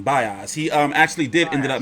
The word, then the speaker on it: Baez: Yeah, so Baez is how you say his name, Baez.